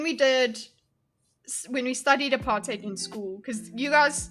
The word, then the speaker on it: apartheid: Apartate. Look guys, it's it's it's pronounced apartate. Easy to remember. Based in hate, based in hate. Apart hate. Okay, just remember it that way.